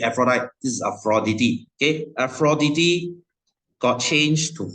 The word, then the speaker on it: Aphrodite: came from afrodity okay guys this is not pronounced as Aphrodite please stop saying Aphrodite this is afrodity okay afrodity got changed to Venus okay this